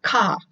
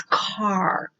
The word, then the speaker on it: car: reticent car dealership remember it is not cop it is car we are pushing out the last sound of each word and we're also making sure that we pronounce that are sound way back here in the back of the throat car car but car